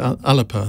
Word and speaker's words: Alba: heard from all for unity we've heard from alba or i can never remember how alex someone told me i had to pronounce it alipa that's the one um and we are going